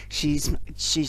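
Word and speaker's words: Sidhe: She's made the now I've got the chance to ask the author, how do you say that? Is it she or It is Sai? she. Yeah, It's I she.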